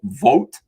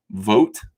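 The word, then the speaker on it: Vought: agencies this is from russell vote vote i think it's pronounced that's a good that's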